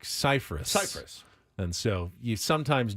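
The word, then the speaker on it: Scifres: hey guys you know I'm not ciphers I'm cyphus Cyprus and so you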